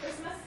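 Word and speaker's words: Kiritimati: And then just to orient you to the pronunciation, this is the Gilbertese pronunciation where your T's become S's, so it's Kiribati and Christmas.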